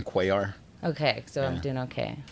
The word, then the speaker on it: Cuellar: that right uh well you could say quaar or you could go heavy on the pronunciation and be like coyar you could do that uh but you don't necessarily whatever i always say cuellar okay so i'm doing